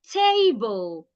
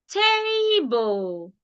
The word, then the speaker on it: table: Table, not table. Table. I said it louder, longer, and clearer. While the bull, I came down. So that first syllable, I stressed it. While the second syllable, I didn't stress it.